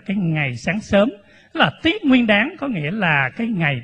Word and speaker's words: Tết Nguyên Đán: Tết Nguyên Đán thì Cái chữ Tết Nguyên Đán này đúng ra phải đọc đúng theo chữ Hán là tiết Nguyên đáng cái chữ tiếp này